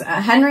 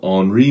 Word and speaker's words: Henri: as we consult the art guides it is Henry matis oh HRI matis hry matis not hry hry hry HRI